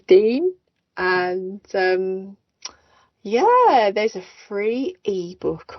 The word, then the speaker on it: Deyne: So I know some people pronounce it Dane, but it is Dean.